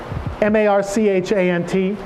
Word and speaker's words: Marchant: work of a Philadelphia artist named Edward Marchant ma rch a NT pronounced Marchant I discovered only recently who was recommended